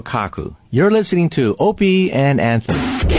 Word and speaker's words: Opie: Oppie? Opie. Okay, Opie right. We physicists always pronounce oppi because of a famous physicist Oppenheimer. Okay opey